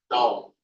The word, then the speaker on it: tau: It is curly T and it is pronounced as tau.